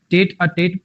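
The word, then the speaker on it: tête-à-tête: टेट अ TET pronunciation होती है भाई इसकी, ठीक है।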